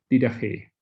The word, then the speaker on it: Didache: Y ese texto se llama Didache. Así se pronunciaría, ¿no?